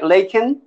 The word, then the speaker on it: Lakin: better yeah that's great and your name against laken laken am i pronouncing it right laken yes you are good and so um i